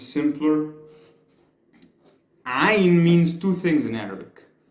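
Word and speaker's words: عين: to like pronounce it, it comes from the throat a little bit.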